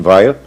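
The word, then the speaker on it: Weil: ensinava a filósofa Simon ve os franceses pronunciam Veil mas eu me recuso a fazer isso eh no livro Lan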